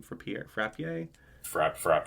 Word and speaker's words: Frappier: do you say her last name for Pierre Frappier frap Frappier Jill frappier's portrayal of her to me was